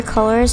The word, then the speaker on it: Coolors: But yeah, this is Colors. It's spelled C-O-O-L-O-R-S, and I will link in the description along with Canva.